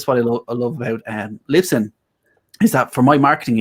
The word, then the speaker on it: Libsyn: How do you spell that? LYPSYN. Lips. LYPSYN. Yeah. Have I got it right? Sorry, 1 second. Sorry, Libsyn.